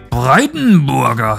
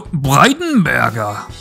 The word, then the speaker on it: Breitenberger: saying this guy's name Brighton burger no breitenberger oh yes I love that you have to say it like that it it it's needed